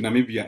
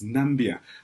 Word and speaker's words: Namibia: Namibia is the country Donald Trump could not pronounce back in 2017 when he met with African leaders referring to Namibia as nambia quite several times that was followed by